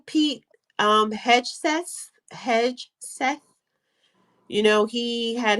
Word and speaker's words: Pete Hegseth: However, how you pronounce his name? Pete Hegseth.